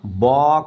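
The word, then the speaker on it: balk: ये एल है ना इस एल का उच्चारण नहीं होना है इसमें क्या हो जाएगा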